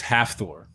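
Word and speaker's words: Hafþór: didn't happen could you tell me how you pronounce his first name quickly it's half Thor I'm sorry it's it's what half door when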